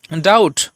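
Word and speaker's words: doubt: বি টি এখানে দেখুন বি এর পরে টি রয়েছে অর্থাৎ টি এর আগে যেহেতু বি রয়েছে সেই জন্য এখানে বি এর উচ্চারণটা কিন্তু হবে না জাস্ট উচ্চারণটা হবে ট তাহলে হবে উচ্চারণটা ডাউট নট ডাউট তারপর দেখুন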